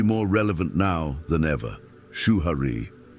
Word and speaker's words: Shuhari: Shuhari. 3 syllables, 3 stages, an invisible cycle of learning that crosses time, culture, and craft.